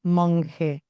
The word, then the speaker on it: Monge: Softer. The G sounds softer. It's Mon.